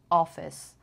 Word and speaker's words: office: لغت کافی و آفیس هم به این صورت تلفظ میشن جفتشون. So boss, coffee, office. اوکی همشون صداشون انگار بلند یک کوچولو وقتی دارین میگین انگار خیلی خیلی خیلی کم حالت لبتون انگار گرد میشه.